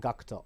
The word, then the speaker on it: Gackt: cinema and also gakuto or in other words gackt as some of you other some of you fans might pronounce his name gackt or but you should have actually just called Cocteau fly me to the